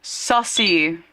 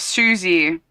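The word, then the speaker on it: Susie: He said he said earlier in this as well, he said sussy instead of Suzy for Suzie Carichel the little black girl in Rugrats.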